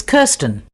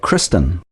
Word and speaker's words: Kirsten: and your first name it's kirsten uh was that kristen no i'll spell it for you k-i-r-s-t-e-n ah sorry about that